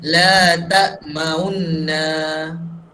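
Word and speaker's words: لَا تَأْمَنَّا: Macam mana bacanya? Semua baca. Cuba baca macam mana baca tadi? Ikut sesama dengan Ustaz. La ta'maunna.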